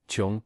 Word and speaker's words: 窮: No wonder 睘 means "to stare" and "to be alone and helpless " Same sound as 窮/穷 (pronounced "qiong"), which means "poor", so yeah not exactly sunshine